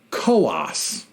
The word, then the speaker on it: Coos: New Hampshire is pronounced koas two-syllable rhymes with Haas I didn't know that